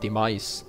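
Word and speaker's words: Demise: lassen habe und zwar heißt der auf Englisch dem als ausgesprochen d e M i s e Mais der heißt so auf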